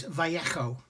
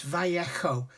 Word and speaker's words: Vallejo: But apparently the correct pronunciation for Viejo Paints for these paints is Vallejo. Okay, it's Vallejo. The J is pronounced as a H.